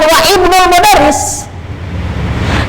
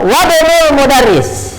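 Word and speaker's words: وابن المدرس: Ini dibacanya bukan wa ibnul Mudaris, tapi dibaca dua so, Wabnul Mudaris, gitu, ya.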